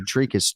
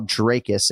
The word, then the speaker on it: Dricus: God love you, Dricus Du Plessis. Excuse me, Dracus. You can say Dracus, but the audio file Dracus, as in like Draymond Green, Dracus Du Plessis.